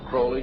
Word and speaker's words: Crowley: i learned about aleister crowley he likes to bring have his name pronounced crowley to rhyme with holy and the satanist today